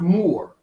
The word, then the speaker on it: Moor: It's pronounced Moor.